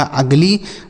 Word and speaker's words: ugly: आगे लिखा UGLY, तो यू से हम यहाँ छोटा ऊ नहीं लिखेंगे, ना तो बड़ा ऊ लिखेंगे, यू का उच्चारण अ हो जाएगा। जी से लिखेंगे ग, एल से लिखेंगे ल, और वाई का उच्चारण बड़ी की मात्रा, यह लिखा अगली, मतलब होता है बदसूरत।